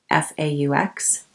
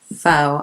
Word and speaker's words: faux: difficult name to pronounce f-a-u-x foe I know that I'm pronouncing this one correctly and faux look how